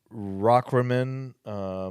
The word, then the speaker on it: Rockrimmon: It's Rockrimmon. It's up in Stamford, Connecticut. Rock and then Rimmon.